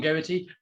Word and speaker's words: Geraghty: yeah and by the way yeah so it's pronounced so my name is garrity but uh i almost everyone gets to get